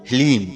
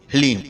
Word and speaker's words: ह्लीम: जी हाँ मित्रों, मंत्र को एक बार आप फिर से ध्यान से सुनिए, ओम ह्लीम। इसमें हा, ला और बड़ी ई की मात्रा और अंक की बिंदी, ह्लीम।